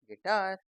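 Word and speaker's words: guitar: आई टी ए आर यू नहीं पढ़ना तो टार आर गिटार जी यू E double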